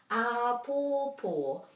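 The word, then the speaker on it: āpōpō: as in tomorrow is lots of macrons here so that all these three syllables have to be pronounced just as given as much emphasis as each other ah poor poor and that's a lovely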